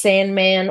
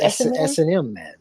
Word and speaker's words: S&Man: couple different ways um it could be pronounced Sandman or essn man is that right SNM man yeah SNM man yeah so it's kind of meant to be a play on both of them but I guess